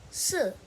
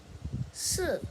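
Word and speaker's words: 四: First, for newbie Chinese learners in language, well, 4 in Chinese is pronounced si, si. So, si is closely pronounced to se.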